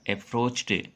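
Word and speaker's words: approached: एक नोट है कि वर्ब के उच्चारण के अंत में च, क, प, स अथवा श आए तो उसमें डी अथवा ईडी जोड़ने पर उसका उच्चारण टी हो जाता है। जैसे अप्रोच, और अप्रोच में हम ईडी जोड़ेंगे तो इसका उच्चारण क्या होगा? अप्रोच्ड। अप्रोच्ड नहीं होगा, अप्रोच्ड होगा।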